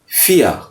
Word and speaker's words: vier: 4 की बात करें, 4 जर्मन में कहते हैं फिया। तो स्पेलिंग इसकी क्या है, अभी आगे आएगी कि VIER। वी जो है फाओ, EAR, तो फियर, तो बहुत ज़्यादा गैन साउंड नहीं निकालते जब भी आर लेटर जो है वो एंड में आता है। फिया तो हल्का सा गैन प्रोनाउंस करते हैं हम जब